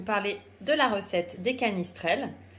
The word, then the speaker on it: canistrelli: Aujourd'hui, je vais vous parler de la recette des canistrelles. Canistrelli, prononcé canistrelle par les Corses, puisque c'est une recette qui vient de Corse.